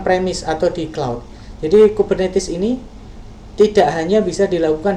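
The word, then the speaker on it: Kubernetes: Kemudian ada istilah yang lain adalah kita bacanya kubernetis gitu ya.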